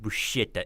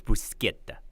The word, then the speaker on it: bruschetta: It is not bruschetta, it's bruschetta.